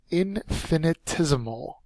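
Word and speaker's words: infinitesimal: next word is pronounced in finit is amol indefinite ism Oh looks like the word infinity which it's similar to it's an adjective the fourth syllable has the accented mark and it means so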